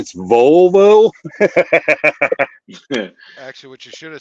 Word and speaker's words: Volvo: that I was telling her I had a vavo and she said no it's a Volvo she was like well what's a vavo and